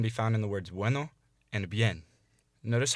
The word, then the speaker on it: bueno: every time you see a u or an i in front of another vowel imagine it as a w or a y so instead of saying bueno or bien say bueno en bien also remember